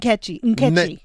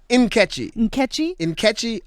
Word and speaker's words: Nkechi: Catchy, the N is silent. Nkechi. Nkechi Amar Dalio.